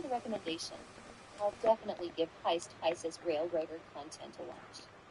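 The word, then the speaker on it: Hyce: I'll definitely give Heist Heist's railroader content a watch. Uh, it's not like the like the bank robbing heist. It's it's like it's it's spelled H Y C E Gotcha.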